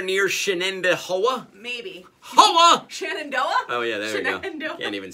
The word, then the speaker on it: Shenandoah: see that anywhere near Shannon Dahua maybe Oh Shenandoah oh yeah there and even say it right